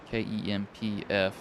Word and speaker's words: Kempf: I'm pretty sure it is Kempf. K-E-M-P-F.